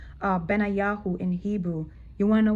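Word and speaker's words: בניהו: It's pronounced Benayahu in Hebrew.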